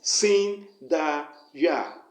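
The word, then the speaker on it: Sindeyah: god you are going to call it is sin da ya let me spell it for you s i n d e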